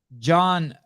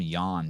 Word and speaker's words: Jan: John, I always want to call him Jan because it's the way it's spelled.